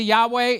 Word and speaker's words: Yahweh: say what is that that is the appropriate way of pronouncing what was written in the King James version Jehovah it is the personal